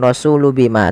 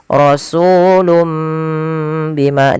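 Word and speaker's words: رسولٌ بما: Jadi sehingga ini bacanya bukan rasulu bima, tapi rasulum, mimnya dibaca. Asalnya rasulun bima karena bertemu dengan ba diganti seperti ini penulisannya. Rasulum bima ditahan.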